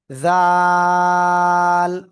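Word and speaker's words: ذال: খেয়াল করেন, এখন আমরা যে অক্ষরটা শিখবো, এই যে, জিহ্বার আগা সামনের উপরে দুই দাঁতের আগায় লাগিয়ে একটু নরম আওয়াজে উচ্চারণ করবেন। জাল।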